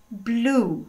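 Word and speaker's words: blew: No presente o verbo é blow, mas no passado ele é blue, igualzinho a pronúncia da cor azul.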